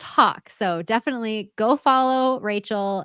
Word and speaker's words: Haack: a a c k my last name looks like hack so yeah pack yes but pronounce Hawk so definitely go follow